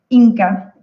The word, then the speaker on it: INCCAF: Y fundó el INCCAF, que no sé si esa sigla se pronuncia de alguna forma o se deletrea. INCA.